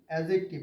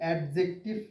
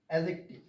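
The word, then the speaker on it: adjective: এটার প্রকৃত উচ্চারণ হচ্ছে এডজেক্টিভ। অনেকে এডজেক্টিভ বলে। নো। It's very wrong. এটার প্রকৃত উচ্চারণ হবে এডজেক্টিভ।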